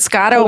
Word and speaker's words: Scotto: thank you for coming is it Scotto am I saying it right yes you are thank you nice to